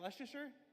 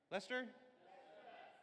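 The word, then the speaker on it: Leicester: Is that Leasher? Lester.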